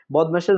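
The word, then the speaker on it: BODMAS: গণিতের সহলঙ্ক ভালোভাবে সঠিকভাবে সুন্দরভাবে সমাধান করতে চান তাহলে অবশ্যই আপনাকে বদমাশের রুলসটি জানতে হবে। চলুন অল্প সময় বদমাশের রুলসটি জেনে নেয়া যাক। বদমাশ এর উচ্চারণ হবে বদমেশ।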